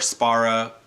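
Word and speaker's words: Szpara: of docile by cam spera would not i think i pronouncing that right cam tweeted a long time ago that the Z was silent and spirit or Sparra I probably will use them interchangeably in this review back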